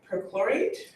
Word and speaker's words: perchlorate: believe they found at perchlorate is how you pronounce it through chlorate it's kind